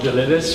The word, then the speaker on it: Delivice: Okay, so please welcome Benny from Delivice. Thank you. So it's actually pronounced Delivice, short for delivery service, but a lot of people mispronounce us.